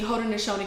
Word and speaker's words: Haudenosaunee: So there was how do you pronounce it, the tribe of the nation? It's the Haudenosaunee Confederacy, which is in New York.